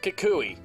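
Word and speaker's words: Kukui: let him in sharkeisha and yes it is pronounced kikui it's from the anime what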